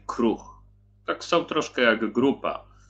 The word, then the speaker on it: kroeg: Pisze się kroeg, czyta się kruch.